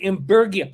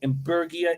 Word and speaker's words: Imbergia: We got Imbergia, hard G on my guy, Imbergia in the house.